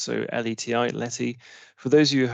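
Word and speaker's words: LETI: on the right so um Randy mentioned um Letty as it's pronounced so l-e-t-i Letty for those of you who haven't come across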